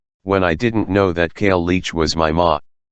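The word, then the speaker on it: cailleach: In case you're curious, the word is pronounced, key followed by clearing a large amount of mucus from your throat.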